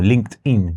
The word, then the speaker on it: LinkedIn: Y hay una herramienta que no hemos probado, que la queremos probar, es LinkedIn o LinkedIn, como dicen, como realmente se pronuncia.